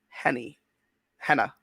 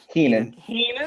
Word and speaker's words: Heenan: who was the first superstar in the WWF that was managed by Bobby Henna? Heenan. Heenan? I mispronounced that name.